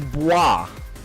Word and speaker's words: boys: So, I found out recently, it's technically pronounced, and I know y'all are going to hate this one. Boys does not pronounce boys. Is bois. That is dumb and lame, so his name is Boys.